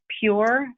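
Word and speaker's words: pjur: called a system joe another one is um pure but it's spelled p j u r um and it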